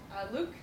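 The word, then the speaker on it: LIWC: As an external resource, I used Luke, so it's LAWC is pronounced Luke, which is effectively a glorified dictionary.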